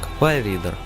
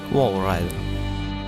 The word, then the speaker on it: Walrider: Так как верники немец, то согласно немецкой транскрипции это слово произносится как Вэллридер. Американские пациенты и врачи произносили слово согласно своей транскрипции, то есть Walrider.